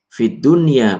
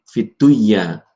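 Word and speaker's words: الدنيا: Bacanya adalah sinwan. Sinwan bukan siwan. Kemudian qinwan bukan qiwan. Fid dunya bukan fiduya tapi fid dunya.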